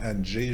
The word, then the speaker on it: Andrzej: l'appeler André parce que la vraie prononciation ça sonne comme anj je l'ai entendu plusieurs fois mais je sais pas comment le reproduire donc André J zulevski